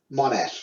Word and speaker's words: Monash: I will link to your page as it is pronounced Monash or Monash? Monash.